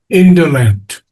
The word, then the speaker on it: indolent: Indolent. Indol. Indolent. First syllable.